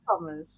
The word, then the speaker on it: Tomas: So is that how you pronounce it though? You just say Tomas or Just Thomas. To be honest, it's still Thomas.